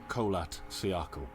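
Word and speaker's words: Kholat Syakhl: of the mountain called colat cakle Cola there you go that's how you say it was their last stop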